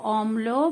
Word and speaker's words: অম্ল: 3টি ওয়ার্ড এখানে হলো অম্ল, ম্লান আর অম্লান। তো সেখানে দেখো এখানে দেখো অম্ল, আগে ময়ের উচ্চারণ হচ্ছে অম, পরে লো, অম্ল।